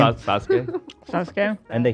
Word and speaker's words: Sasuke: Like a what's his Susuke? What's that name? Sasuke. Sasuke. And they spell it like.